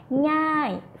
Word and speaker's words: ง่าย: You will say ง่าย falling tone ง่ายมาก very easy.